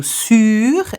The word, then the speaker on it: sur: So, sur is a long U sound and sous is quite. I was going to say a stopped and dried sound.